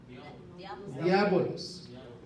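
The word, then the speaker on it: διάβολος: ¿Cómo se pronuncia esto? Eso es griego. Diabolos.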